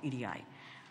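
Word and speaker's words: 入会: which is the Oni Oni should actually be pronounced with the Yomi reading and called EDI so why did pre-industrial societies devise Commons what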